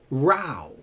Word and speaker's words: Roe: R-O-W, row or row.